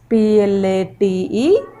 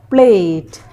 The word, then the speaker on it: plate: A sound is coming, but we are not speaking the sound for E.